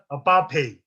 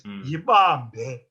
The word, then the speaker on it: Yibambe: It's not Abape. It's Yibambe.